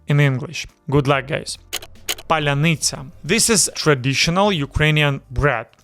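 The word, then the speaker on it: паляниця: The correct pronunciation is Palianytsia. Palianytsia. Stress is on the second to last syllable. Palianytsia. The lia is soft. The tsa at the end is also soft.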